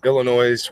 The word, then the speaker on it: Illinois: to get slapped oh you don't pronounce the S at the end of Illinois did I say illinois'